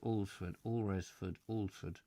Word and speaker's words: Alresford: Alresford, is that what it is? Alresford. Yeah, I knew I was pronouncing it wrong.